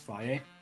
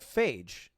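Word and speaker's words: Fage: Isn't it pronounced Faye? No, like Phage. Like F-A-G-E, Phage.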